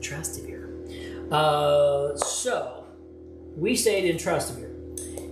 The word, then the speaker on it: Trastevere: I don't know how you say it. Rick Steves said Trastevere.